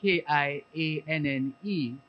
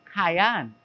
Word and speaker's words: Kianne: I thought it, because it's spelled Kianne, that it would be Kyan. But I was told it's Kian Hutchinson.